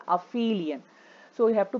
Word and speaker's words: aphelion: So the distance of the Earth, suppose if you have the Earth here, this position is called aphelion. So you have to pronounce it as aphelion, A-P-H-E-L-I-O-N.